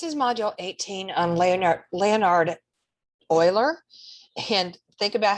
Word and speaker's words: Euler: It's Euler. He was Swiss, so use the German pronunciation just like you would with Freud, not like you would use with Euclid and the Greek pronunciation.